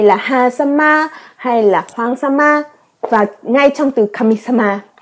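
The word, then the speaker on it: 様: chữ dạng dạng này có cách đọc là y hoặc sama sama trong Kamisama nghĩa là chúa thần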